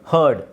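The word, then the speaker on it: heard: wrong ಯಾರಿಗಾದರೂ ಗೊತ್ತಿದ್ರೆ ಹೇಳಿ ಹಿಯರ್ಡ್ ರಾಂಗ್ ಗುಡ್ ಹರ್ಡ್ ಇದನ್ನ ಹರ್ಡ್ ಅಂತ ಹೇಳಬೇಕು ಹರ್ಡ್ ಸೋ ಆರ್ ನ ಪ್ರೊನೌನ್ಸ್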